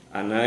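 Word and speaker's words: أنا: samawati Wal rohani fama Ana Minal musyrikin wamaa Ana Minal musyrikin jadi tidak baca wamaa Ana Minal musyrikin Kalau Anda dibaca panjang itu salah Jadi kalau anda yang artinya saya kita harus membacanya pendek Kemudian pada pelajaran selanjutnya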